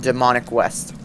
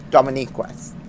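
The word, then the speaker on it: Dominic West: The main actors are Julian Moore and Demonic West. Fucking who? Dominique. Dominique West. It's spelled like Dominic.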